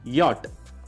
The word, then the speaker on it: Jahr: ഇംഗ്ലീഷിൽ വായിക്കുമ്പോൾ you read it as jar എന്നാണ് വായിക്കുന്നത്. But what is the German pronunciation here? It is yacht.